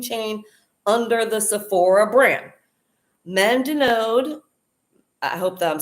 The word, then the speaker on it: Mandonnaud: Mandunod, I hope that I'm saying that right. It seems very French and difficult to read. It's Mandonnaud. That's how you pronounce it.